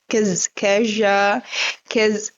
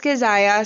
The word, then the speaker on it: Kazaya: Well, my real name is Kazaya Medilo, but a lot of people mispronounce it. They call it like Keja, they're worse, believe me. But that's Kazaya, so I prefer my